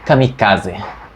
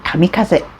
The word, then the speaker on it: kamikaze: Tensei que que significa Kamikaze para começar é kamikaz a pronúncia original é kamikaz em japonês Tá bom olha tem